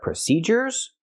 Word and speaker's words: procedures: But procedures has a different sound. We use the hard j sound, like in juice and jump. Procedures. And why do we do this? Well, when you have du in the middle of a word, we normally use the j sound.